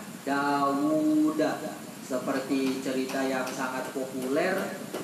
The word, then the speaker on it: Dawud: Bacanya panjang ya, Dawud.